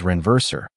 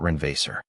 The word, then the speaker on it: renverser: "Actually, sir, the correct pronunciation is renverser, not renverser. Otherwise, you accidentally asked whether I could survive a flood."